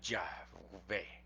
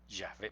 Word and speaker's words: Yahvé: Lo más acercado es lo que han hecho algunos de poner aquí una A y aquí una E. Y entonces diría Yahvé, Yahvé, porque la W se pronuncia como B, Yahvé.